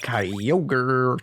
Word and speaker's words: Kyogre: so what yeah my knowledge of Japanese tells me it's probably kiler got do something like that at least in the